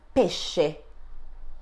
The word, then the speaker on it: pesce: S can be followed by consonant C and vowels E and E. In this case, the sound produced is sh, as in the English word ship. So repeat after me, she, she. Let's have a look at an example. Pesce. Repeat after me, pesce.